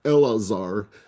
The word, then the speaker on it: Eleazar: And by the way, Eliezer is not the name, Judy, I didn't correct you before, but Aaron's son's name, Eleazar, who's the priest, is not the same name in Hebrew as Eliezer, although it's spelled funny in the translation, but they're 2 different names.